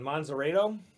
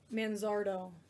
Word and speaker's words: Manzardo: Manzarito? Let me see. Manzardo.